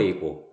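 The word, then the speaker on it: ego: 그 다음에 자, 이고, 그 다음에 초자, 슈퍼 이고, 뭐 에고라고도 발음합니다.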